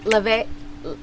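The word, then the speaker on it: Laufey: probably have the um hold laf or it's Le but like it's it's spelled l a u f e y uh-huh Le is yeah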